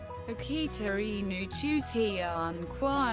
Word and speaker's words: 秋田犬: The Akita Inu, Japanese pronunciation, Akita In, is a large breed of dog originating from the mountainous regions of northern Japan.